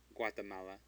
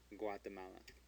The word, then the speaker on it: Guatemala: Guatemala. The U is pronounced because it's between a G and an A, so it is pronounced. Guatemala.